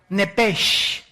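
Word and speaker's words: נפש: Esa palabra alma es la palabra hebrea nepesh, así como suena. N p E s h.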